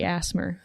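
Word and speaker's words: ASMR: pronounce it? It's undoubtedly Asmer.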